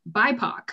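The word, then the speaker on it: BIPOC: crazily it says um the word is pronounced by poc you don't pronounce each letter separately i knew it okay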